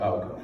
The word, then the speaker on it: Ovtcome: Well, when I submit it, it's under Outcome, but like the name is Ovtcome.